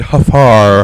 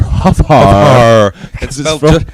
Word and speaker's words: Huffar: My name is Huffar. Huffar. It's pronounced just the way it's spelled.